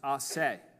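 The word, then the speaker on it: a se: It's pronounced "asse," "asse," and it means from himself.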